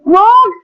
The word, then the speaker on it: vogue: Friends Yui को तो हम लोग प्रोनाउंस नहीं करेंगे क्योंकि ये साइलेंट है। ओके फ्रेंड्स, देन वो ऑग, वॉग फ्रेंड्स, वॉग मतलब फैशन स्टाइल।